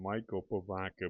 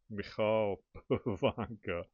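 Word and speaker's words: Michal Pivoňka: Beautifully signed by, I believe he pronounces his name Michal Pavanka. I think when I was a kid watching him play, they called him Michael Pavanka, but I think it's Michal Pavanka.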